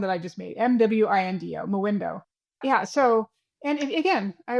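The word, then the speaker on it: Mwindo: Or do I need to go find Moindo? It's it's spelled MW I N D O for anyone listening.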